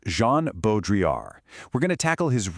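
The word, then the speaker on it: Jean Baudrillard: Today, we're diving into the pretty wild but totally fascinating world of the French philosopher Jean Bodriar, and that's pronounced Jean Bodriar.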